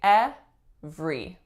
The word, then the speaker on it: every: word every every now if we were to look at it syllable by syllable it looks like it should be at the re every but in real life we say at three everyone had a great